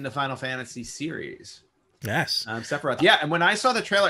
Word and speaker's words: Sephiroth: And I don't know how to pronounce his name. His name is Sephiroth. Sephiroth. I was going to say Sephora, but no, I know Sephiroth.